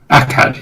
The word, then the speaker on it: Akkad: Akkadia. Akkad, yeah.